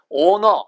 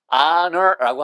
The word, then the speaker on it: honor: 우리가 명예라고 하는 단어 이거 honor 이거 아니에요, 여러분. honor는 더더욱 아닙니다. honor라고 하셔야 돼요.